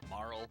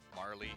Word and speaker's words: Marle: Marl, Marley, Marley. They're all pronunciations are correct.